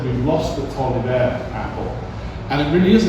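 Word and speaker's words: Taliaferro: It doesn't look like it should be pronounced Tolliver.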